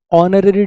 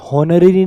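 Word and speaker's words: honorary: पड़ेगा दे awarded him ऑनरी degree silent है इसमें हनरी नहीं हैय ऑनरी है ओ से आवाज है वोल साउंड है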